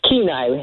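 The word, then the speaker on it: Kenai: Karma going to get you Evelyn on the canai peninsula in Alaska that sounds so exotic Evelyn well it's keenai is how we pronounce keenai k n a i keenai yes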